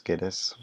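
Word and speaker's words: Guedes: up up all too garish or Geddes I wanna say garish but it's Geddes probably who had thought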